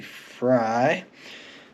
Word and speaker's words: Frey: want to pronounce it I do believe it's supposed to be fry but um true love